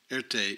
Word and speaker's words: Erté: avoid disgracing his family Earth Day is the French phonetic pronunciation of the initials R and T in 1915 Erte secured